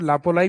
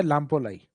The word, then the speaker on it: लामपोलाई: तो विलेज आता है लामपोलाई। कुछ जगह मैं को साइलेंट कर देते हैं, लापोलाई भी बोल देते हैं, बाकी सही नाम है लामपोलाई।